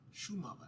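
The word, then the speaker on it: Šumava: He always talks about it being, he always pronounces it Shumava, and I was always like, Francisco, why do you call it Shumava?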